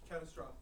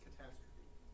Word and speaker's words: catastrophe: Catastrophe is pronounced catastrophe. Catastrophe. Just like apostrophe.